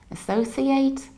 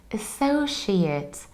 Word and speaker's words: associate: And very often I hear that people say associate or associate. We don't say associate or associate because it's not a verb, it's a noun. So we need to say associate.